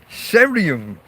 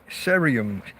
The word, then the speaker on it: cerium: Cerium. I presume it's a soft C rather than a K. Cerium, with the initials CE.